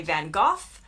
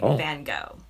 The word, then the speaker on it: Van Gogh: In the UK, they say Van Gogh. And in the US, we say Van Gogh.